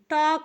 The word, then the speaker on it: talk: और यल साइलेंट है जिसे हम नहीं पढ़ते, और के को हम का पढ़ते, हो गया टॉक।